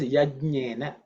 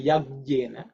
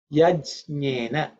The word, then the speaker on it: Yajnena: But when you pronounce Yajnena, make sure that you pronounce it as Yajnena. Because there's a tendency to put a G there and say Yajnena. It is not Yajnena, it is Yajnena. Just pay attention to that. Some people even say Yajnena. Those are not accurate. Yajnena is the right pronunciation.